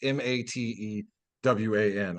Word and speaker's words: Matewan: Just to interrupt real quick, James Earl Jones once starred in a very like pro-union movie called Matewan, not spelled like down Michigan. It's Matewan.